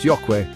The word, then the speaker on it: ayokwe: Hello is ayokwe, pronounced yokwe.